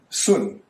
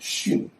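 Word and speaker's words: 巽: Above is the old pronunciation sun. Now it is pronounced shin.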